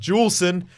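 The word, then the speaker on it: Juulsen: soft J but apparently he's Canadian and it's pronounced jewel s'en so I will do my best to remember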